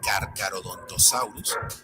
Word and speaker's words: Carcharodontosaurus: Si lo leíste como Carcharodontosaurus, vas por buen camino. Algo similar le ocurre a la RH, pues recibe una pronunciación con una R marcada, como la doble R del alfabeto escolar de antaño.